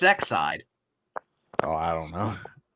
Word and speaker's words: Exide: wait how'd you pronounce that how did you pronounce that it's exide oh i don't know it's exciting everybody but